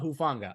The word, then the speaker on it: Hufanga: you say his last name who oh Tylenol hufanga I'm sorry I butchered his name he's been a beast he